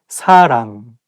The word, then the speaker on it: 사랑: The same thing, like you have to say 사랑 with a softer S, not 사랑. And make sure that you pronounce 응 sound correctly. 사랑, not 사랑, 사람, or something else.